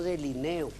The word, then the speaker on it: delineo: pronunciamos mal el término Es un término grave yo del ineo tú delineas ellos delinean no yo delineo tu